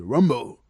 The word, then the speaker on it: Rambeau: Moi j'ai toujours dit Rimbaud, mais apparemment c'est Rambeau, même si ça s'écrit Rimbaud, c'est Rambo.